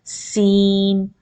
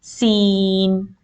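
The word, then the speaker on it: سين: raise your tongue in this letter you should not raise your tongue as this is a light letter so when you put the tip of the tongue behind your lower end scissors you will pronounce scene and it is a kind of you have to stretch your lips sideways scene so here you can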